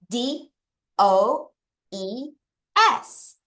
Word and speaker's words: does: D O E S. 자, 소리를 볼게요. D O 어, E에 S. 그래서 이거 알파벳 그 은가당 발음을 해 보면 도스예요.